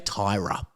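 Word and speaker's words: Tyria: I would say that's Ty or Tyra. Uh they say Tyra is how you pronounce her.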